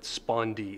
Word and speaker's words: spondee: both syllables are emphasized actually the word spondi itself if you think about it is a spondi both of those syllables have an accent whereas a pic is